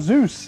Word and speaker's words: ASUS: so there it is it is pronounced as Zeus and now we're going